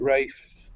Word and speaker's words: Ralph: choice know plenty name is Ralph and probably he does like you pronounced as race yeah I realize I should have said race ya know I'm going Ralph all the way I